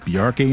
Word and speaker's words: Bjarke: pronounce your first name I normally explain it like there's a reference to Bjork because it's similar BJ yeah but the